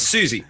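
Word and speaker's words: Siouxsie: The original lineup was a diverse group of genres, including, how do you say it? Susie? You should know Susie. Susie. Oh, it's Susie.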